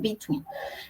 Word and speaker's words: between: preposición Perdón la pronunciación between normalmente esto es un tip de pronunciación normalmente cuando tenemos doble e en una palabra se lee como una I como en el caso de between doble e i y